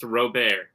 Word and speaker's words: Robert: pereral Robert and then it says parenthesis French pronounced robar yeah I I I